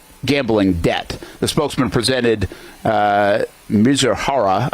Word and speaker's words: Mizuhara: The spokesman presented Mizuhara, is how you say it, I believe, to ESPN for a 90-minute interview Tuesday night, during which he laid out his account in great detail.